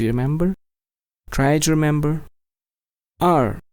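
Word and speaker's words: 二: remember try to remember r yes this is fourth tone r are maybe a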